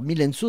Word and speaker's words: Myl-n-So: Alors Mylène Sceaux, ça s'écrit M-Y-L-N-S-O. Pourquoi? Ben parce qu'en fait, c'est juste la première syllabe de mon nom de famille.